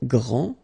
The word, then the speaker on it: grand: This final D is not pronounced. Okay, so grand, and then the feminine form, grande. Okay, so you put this E, and then you get the sound D, D, grande.